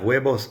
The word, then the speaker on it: huevos: We have huevos fritos. Listen to the pronunciation of huevos. The H is silent and the V sounds like a B most of the time.